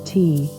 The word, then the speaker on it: ti: by our Dilmun poem, to underlie the biblical paradise tale, for in our Sumerian poem, one of Enki's sick organs is the rib. Now the Sumerian word for rib is Ti, pronounced T.